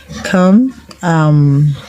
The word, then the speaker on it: brother: Come, brother, BROTHER, brother. The O in brother is pronounced R.